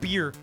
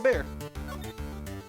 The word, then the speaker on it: bear: You don't pronounce bear like beer. Yeah, the bear.